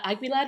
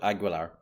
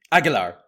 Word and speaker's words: Aguilar: Agular and like really guttural harsh version with the hard G which doesn't make any sense whatsoever especially when the other Spanish speaking characters call it.